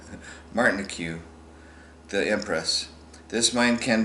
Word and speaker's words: Martinique: Named later Josephine of Martinique, it's Martin IQ, Martinique, the Empress.